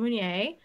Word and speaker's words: Meunier: And the Pinot Meunier, is that how you say it? Meunier. Yep, the Meunier.